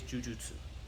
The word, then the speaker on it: jujutsu: you want to be technically correct it is jujutsu okay that's the first one okay number two